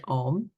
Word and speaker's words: Om: a m in the Indian tradition but it's pronounced om but it represents it represents the four states